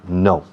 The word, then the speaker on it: know: K-N-O-W. 4 letras. Sin embargo, la pronunciación es igual que la negativa no.